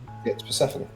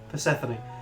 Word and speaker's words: Persephone: It's Persephone. Persephone.